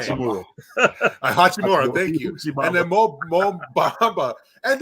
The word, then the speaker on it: Hachimura: And then you have Huchimama, however you say his name. Hachimura.